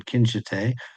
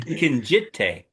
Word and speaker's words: Kinjite: He was a bad guy Duke in Kinshite. We had or Kinjite or however the hell it's pronounced. He corrected my. He kept He's saying Kinjite for yeah, Ah, he's intelligence.